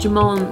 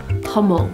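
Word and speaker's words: jamón: that this entire time I thought jamone was jamone but it's actually hamon hamon well thank you guys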